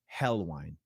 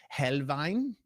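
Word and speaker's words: Helnwein: Gotfrieded Hel an American might say Gotfrieded Helwine, but I think it's Helvine.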